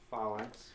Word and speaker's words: phalanx: I put an L in the wrong place. Yeah, it's phalanx. Phalanx. 1 offense and 1 defense while in the same Phalanx.